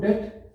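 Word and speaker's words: debt: एक तो हो गया एलैक्टिक O2 डेट, एक हो गया lactic O2 डेट, oxygen डेट, B silent है, ध्यान रखना, इसको डेट मत बोलना, ठीक है ना।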